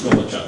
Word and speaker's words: Gulachok: Lord Buckley said uh my last name is gachu now for some people especially slow people it's a a hard name to pronounce and a hard name to remember so